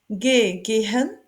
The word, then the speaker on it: Gehen: Gehen. Ici, on prononce pas le H. Gehen, aller, go. On l'accentue sur le son G. Gehen, aller, go.